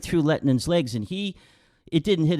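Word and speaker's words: Lehtinen: How do you pronounce his name? Lettinen, yeah.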